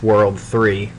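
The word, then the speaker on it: WWW: Yes, the triple W is pronounced World 3.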